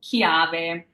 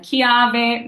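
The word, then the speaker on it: chiave: you the recording okay so next if we have a CH or a CCH it's also going to give us a hard C sound so it's like the word King in English for example kave so this is a CH so just imagine it's a K in your head and kave means key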